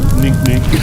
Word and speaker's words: NQNQ: Could be pronounced Nink Nink or yeah.